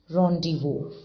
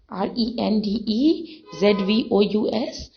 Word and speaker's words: rendezvous: days were we call it something here it's pronounced as rendezvous see the spelling r-e-n-d-e z-v-o-u-s but it is pronounced as rendezvous meeting place